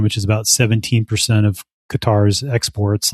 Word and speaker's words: Qatar: Some of them are wholly owned by Qatar or Cutter, I think is how you actually pronounce pronounce it.